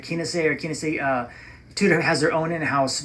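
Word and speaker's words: Kenissi: that Breitling buys, and I think it's Kinesi. I think that's how you pronounce it, Kinesi.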